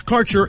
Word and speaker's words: Kaercher: Your connection to quality cannabis insurance services is spelled Kaercher. That's Karcher Insurance.